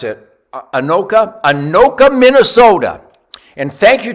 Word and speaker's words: Anoka: what a rifle thank you how do you pronounce it anoka anoka minnesota and thank you to all my